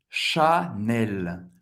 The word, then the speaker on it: Chanel: Chanel em francês é Chanel. Chanel. Chanel. Você vai pronunciar o L no final, mas um L bem francês. L. Chanel. CH tem o som do Sh.